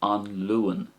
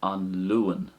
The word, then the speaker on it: An Luan: So as regards pronunciation there, the first way I said it was An Luan. So the A sound is getting prominence. An Luan.